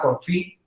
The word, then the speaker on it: confit: Entonces, lo que yo hago es un proceso que se llama confit, que se escribe confit, literalmente así como se suena, porque al final es un término francés, que es poner el